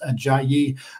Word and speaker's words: Ajayi: it is not that is how it is pronounced a jayi Gonzaga fans are gonna have to get used